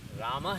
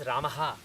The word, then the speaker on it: Rama: Rama is supposed to be two letters, two syllables, both gurus. Whereas if you pronounce it as Ramaha, effectively this is what you are pronouncing, Ramaha. This is three letters. That's not what this is supposed to be. In grammar rules, in meter rules, this is supposed to be two aksharas.